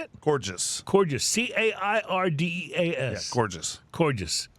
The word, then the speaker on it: Cairdeas: Cairdeas.